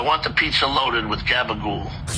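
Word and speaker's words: gabagool: It's pronounced gabagul. G A B A G O O L.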